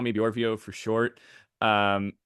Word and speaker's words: Bjorvio: you can call me Borio for short um and it Rhymes you know you know it Rhymes if you don't get it you're just saying it wrong um anyway uh something